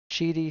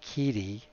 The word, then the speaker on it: Qidi: drive called cheaty slicer I keep wanting to say kitty because the Q I want to pronounce the Q but all the YouTubers are saying cheaty so I'll try to do the same so we get this